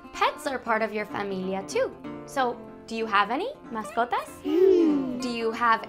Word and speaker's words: familia: Family in Spanish is familia.